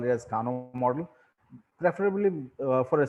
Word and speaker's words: Kano: is kano and uh japanese pronounced this name as kano so we should prefer using it the way japanese the native people call it kano now sort of i'll